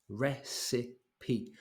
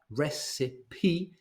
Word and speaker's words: recipe: one one is recipe recipe three syllables here so this lady is